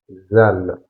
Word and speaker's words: ذ: Donc, ici, on a on va découvrir que la lettre zal. Donc, la prononciation c'est un un peu vers zed.